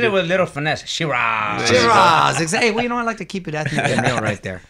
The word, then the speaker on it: Sheeraz: contender in the world for the middleweight, Hamza Shiraz. Yes. Hey. You said that right. Did I pronounce that right, Hamza? Yes, you did. You said it with a little finesse. Shiraz.